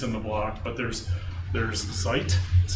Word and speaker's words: Zeit: But there's Zeit, that's how I pronounce it.